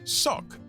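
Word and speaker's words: socke: There's also a similar Germanic word, sock, which sounds the same but is spelled S-O-C-K-E.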